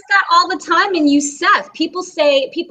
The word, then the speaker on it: Youssef: People call me Camile Youssef, and I'm like, no, it's Camile Youssef. It's 2 S's. Stresses on the S. You know, even other Youssefs say Youssef. I'm like, no, Youssef is U-S-E-F. It's Youssef.